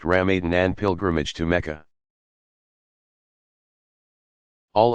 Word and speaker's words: Ramadan: daily ritual prayer fasting during Ramadan pronounced Ram Eden and pilgrimage to Mecca